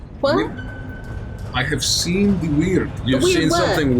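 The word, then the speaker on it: wyrd: No, it is spelled W-Y-R-D. Totally different word. You're the perfect person for me to ask this question to. They're homophones. Wait, what? That means sounds the same.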